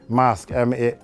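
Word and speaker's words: Maersk: gotten into the management mask this is okay that's how you pronounce it so she had gotten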